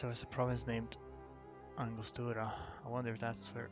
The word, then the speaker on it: Angostura: So my instinct to pronounce that in a Spanish way was correct.